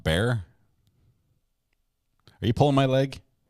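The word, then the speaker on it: Bexar: have um it's pronounced bear wow and I and I thought I knew some towns that were pronounced weird weirdly what is just a silent X that's that's pretty funny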